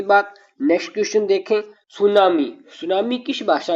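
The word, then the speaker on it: tsunami: सुनामी। सुनामी किस भाषा का शब्द है? सर्वप्रथम सुनामी शब्द को समझे। इसमें टी साइलेंट रहेगा।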